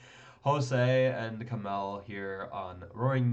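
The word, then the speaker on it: José: pronounce the Jay but I always want to pronounce the J Jose and camel here on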